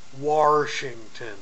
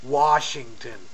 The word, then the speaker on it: Washington: And no, Eric, it's not Washington. No, Washington. Say it right.